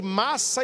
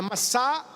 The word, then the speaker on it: Massá: É por isso que aquele lugar, Moisés colocou o nome de massa e meriba. Nas leituras, geralmente a gente lê Massa e Meriba, mas a pronúncia certa é Massá e meribá.